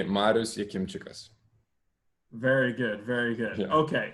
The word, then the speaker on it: Marius: deal out of it people call me marous marias marius i'm fine with whatever is comfortable for people so again the correct pronunciation is correct pronunciation would be marusi very good very good